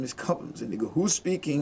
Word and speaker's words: Cobhams: My real name is Cobhams. Cobhams It's pronounced Cobhams because most people have just